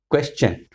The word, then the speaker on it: question: Next word is question. Question. Most of the people say question. They pronounce t, but it is ch.